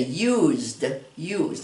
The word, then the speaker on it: used: It looks like it would, you don't pronounce that ED when it's it ends in an E like that. We say used.